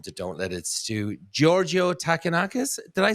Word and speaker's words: Georgio Takounakis: Welcome to Don't Let It Stew, Georgio Takounakis.